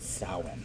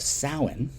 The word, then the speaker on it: Samhain: a rock of star right no but you pronounce it samhain that's that irish thing halloween was definitely a memory of the of samhain which was the pagan new year of november